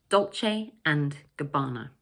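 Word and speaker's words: Dolce & Gabbana: You can say each word separately if you like 'Dolce and Gabbana'. But it sounds much more natural to connect the three words together so that the word 'and' almost disappears like this: 'Dolce-and-Gabbana', 'Dolce-and-Gabbana'.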